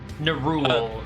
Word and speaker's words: Nerul: Your deity is Nerul, goddess of home and the hearth, is it? That's how you say it. Nerul.